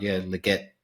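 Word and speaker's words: Legette: And then potentially a deep, or wait and see how he goes now again under Andy Dalton, is Xavier Leggetti.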